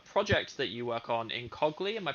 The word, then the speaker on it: Incogly: We're going to look at a project that you work on, Incogly. Am I pronouncing that right? Incogly.